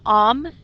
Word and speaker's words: homme: The H in homme is silent, so you're actually saying homme, as if you were meditating.